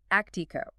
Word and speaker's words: ACTIQO: ACI Qo, that's spelled AC TIQO, and it's pronounced Actico. They've built this structured framework to help families step back and actually evaluate these activities without the emotional baggage. The Actico method is brilliant in its simplicity because it